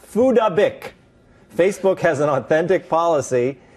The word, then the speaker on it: Phuc Dat Bich: It's pronounced Fudabik.